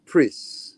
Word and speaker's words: Pris: Did they actually say her name in the movie? I can't remember. Yes, Pris. Okay, Pris. Okay, then it is Pris. I was wrong.